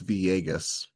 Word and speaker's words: Villegas: If I were to guess how his name is pronounced, it's Villegas. Oh, Villegas? Okay. Yeah. It's a Y sound when you see two L's in Spanish, like tortilla.